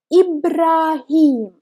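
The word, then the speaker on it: إبراهيم: word is Ibrahim Ibrahim under letter Aleph we have Hamza as you can see if we have Hamza under letter L if we pronounce it like e not like ah e ha ah he Ibrahim if we will have Hamza about this panic i I would have treated like Ibrahim Ibrahim it's wrong it's sending Ibrahim there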